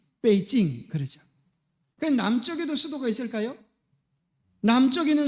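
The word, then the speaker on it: 北京: 수도를 뭐라 그래요 북경 그걸 갖다가 중국 발음으로 하면 중국발은 뭐라 그래요 그래서 자 여기 이게 북경이 북쪽에 있는 시대예요 그래서 북경이다 그래서 베이징 남쪽에도 수도가 있을까요 남쪽에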